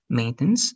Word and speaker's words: maintenance: omit that one um maintenance okay good the stress is in the first part right maintenance good then